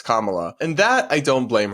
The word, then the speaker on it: Kamala: totally fine that she initially mispronounced kamla's name as camela just briefly and then corrected herself or then Rec corrected herself and the others were like oh yeah it's Kamala and that I don't